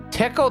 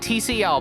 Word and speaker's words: Tcl: like this, but apparently that is how you pronounce it. Tickle TK. I always like to call it TCL, but apparently it's it's supposed to be pronounced tickle.